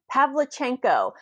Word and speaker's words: Pavlichenko: How do you pronounce that? Pavlichenko.